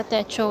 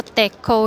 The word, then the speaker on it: Techo: Nung una akala ko techo yung pronunciation niya pero tech pala.